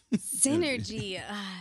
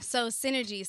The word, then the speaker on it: Sinnergy: You spell it differently. So kind of let's start off there. Why is it spelled S-I-N-N-R-G? Sinnergy. Sinnergy.